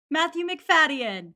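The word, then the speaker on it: Matthew Macfadyen: according to how to pronounce dot com it's pronounced like this matthew mcfadyen i have some news for 2005 stan twitter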